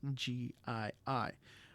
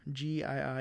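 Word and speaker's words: gii-: The prefix GII is not pronounced G like the word gene. So how do we pronounce the prefix GII?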